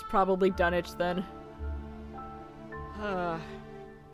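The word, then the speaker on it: Dunwich: So the village in England by the same name is pronounced Dunich.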